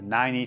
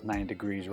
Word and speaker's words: Nineigh: it is the the 90 tripod I'm going to call it the 90 tripod that is how you spell it say it how you like I've used this in